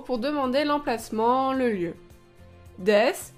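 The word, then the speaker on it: です: demander l'emplacement le lieu deiss s'écrit avec un u mais cette lettre ne se prononce pas ici voici d'autres exemples pour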